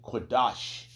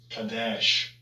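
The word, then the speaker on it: קדש: We know how they're going to say it wrong. Strong's H 6942. Kadash. Kadash. And second entry. Kadesh. Kadesh. And us learning this Lashwan Kodash, the Holy Tongue, we can see the letters. We can see how it is. And they pronounce it wrong. But we learn from our apostles and how to pronounce it correctly.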